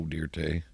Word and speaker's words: Dirte: Joe Dirte. Joe Dirte. Put a little E on the end of it. Pronounce it Dirte.